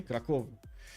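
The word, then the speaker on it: Kraków: Defensive tactics also in 3, while MNC is mentioning stress on the first syllable in Krakow. Okay, Krakow.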